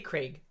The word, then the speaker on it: Craig: I say Craig. Craig. Yeah, Craig. Like Greg, but with a K.